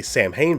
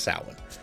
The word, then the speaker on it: Samhain: well but it's that most people might say samhain but it's actually pronounced salad but it is a very good film i